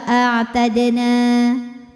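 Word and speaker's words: أَعْتَدْنَا: Ada hukum qalqalah sughra, sebab ada huruf dal sukunnya asli dan ada di tengah bacaan. Cara bacanya dipantulkan dalnya dengan pantulan yang kecil.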